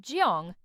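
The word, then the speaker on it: jeong: It's called jong, pronounced jung.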